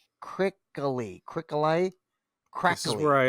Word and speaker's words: Krikalev: Sergio, I can't quite pronounce his last name. He's Russian. Krikalev. Krikaley.